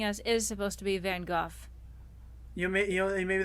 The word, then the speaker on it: van Gogh: definitely no this is looking like a van Gogh painting or van Gogh instead because that's how you really pronounce his name oh that's why it's